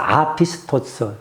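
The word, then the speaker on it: ἄπιστος: 어 알파 아라 발음하자. 그래서 아피스토스 믿음이 없고 없는 신뢰할 수가 없는 불성실한 불충성스런운 이런 뜻의 단어예요.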